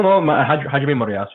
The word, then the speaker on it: Hajime Moriyasu: Is it Moriyasu? I have to excuse some of my pronunciation. No, Hajime Moriyasu is perfect, yeah.